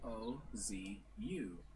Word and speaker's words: OOO: Actually spelled with 3 O's, but in katakana it's spelled O-Z-U. Ozu. Oz. That's only meant to show how it's pronounced in Japanese, but even in the show, it's spelled with 3 O's.